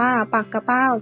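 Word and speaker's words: ปักเป้า: กี่ เป้า ก็ เรียก ถ้า ออก เสียง ว่า ปากะ เป้า จะ เป็น คำ นาม เช่น กัน แต่ จะ หมาย ถึง ชื่อ ปลา ทะเล มี พิษ ลำ ตัว ป้อม หรือ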